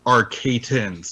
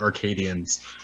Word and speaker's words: Arcatans: It's pronounced Arcatans, not Arcadians.